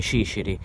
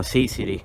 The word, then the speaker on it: ciciri: I militari siciliani praticamente facevano dire la parola cecio in dialetto, che si dice ciciri. Siccome i francesi non possono pronunciare bene questa parola, dicevano sisiri ad esempio.